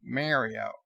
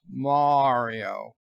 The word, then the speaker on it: Mario: robotic voice that is programmed with perfect English diction will say Mario, not Mario, because Mario is just some stupid invention by a Japanese toy company who have no idea how Italian names are pronounced.